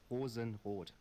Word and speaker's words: Rosenrot: I mean, if I go full German, it's Rosenrot.